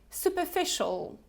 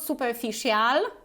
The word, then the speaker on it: superficial: pronounce it let's check superficial superficial okay superficial official superficial not super official okay superficial superficial so